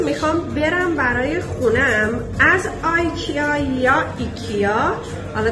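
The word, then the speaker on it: IKEA: اینجا نمایشگاه بیرونی آیکیا هست یا ایکیا. حالا هر کس یه جور تلفظ می‌کنه. من آیکیا میگم چون خارجیام همون آیکیا صداش می‌کنن.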